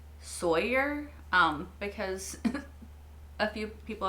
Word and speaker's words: Sawyer: I don't know why I say sawer um maybe it's a southern thing maybe it's a me being bad at pronouncing names thing but I just say sawer instead of Sawyer like Sawyer is weird to say to me I don't know anyway